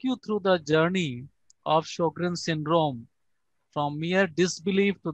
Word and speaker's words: Sjögren: And in German, SJ is pronounced like SH in English.